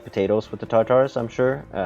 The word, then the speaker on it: Tatars: out there it's pronounced Tatars it's like first you say car in a British way without the are car and then say it in a American Way tars Tatars it's not taters it's not potatoes rolling